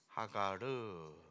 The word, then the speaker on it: 하갈: 첫 번째가 되겠죠 하갈 히브리 원문으로는 하갈르라고 하는 단어가 돼요 하가르 하가르라고 읽어요 이것이 우리 성경에는 하갈 이렇게 이제 번역이 된 거죠이 하갈의 뜻은 하갈은